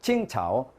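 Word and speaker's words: 青草: 青草 칭차오. 청초. 청초하고 칭차오 비슷하잖아요.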